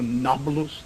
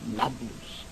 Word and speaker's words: Nablus: shechem encoded napolus naples the arabs have difficulty pronouncing a p so nakpolus became number loose and if anything we